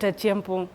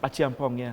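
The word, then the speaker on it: Acheampong: Look at Achiampong. That's how you say his name. Achiampong, yeah.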